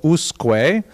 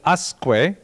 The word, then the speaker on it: Usque: So I would guess the subject of tonight's lecture is Samuel Usque. However, when I looked it up online, they said Usque, which seemed to me not in conformity with